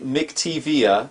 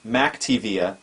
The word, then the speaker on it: McTiVia: this video, we're going to set up for the first time the McTiVia Multimedia Remote Desktop Receiver.